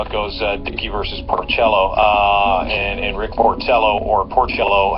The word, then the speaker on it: Porcello: Every time I see Porcello, I think Porchetta, and then It's Porcello.